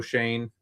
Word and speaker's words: Schoen: And you're looking at, we already talked about Joe Schoen, right?